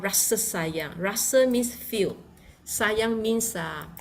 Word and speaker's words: Rasa Sayang: So you can see again the Ra, R-A, Ra is feel. Rasa, this is the pronunciation. We will see S-A, Sa, and then we have Y-A-N-G, Yang. So we pronounce Rasa Sayang.